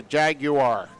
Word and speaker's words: Jaguar: As I lived in the UK for 3 years, and so the correct pronunciation is a Jaguar.